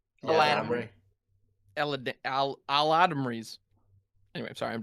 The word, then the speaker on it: Eladamri: Yeah, I don't know how to pronounce it. It's Eladamri. Eladamri.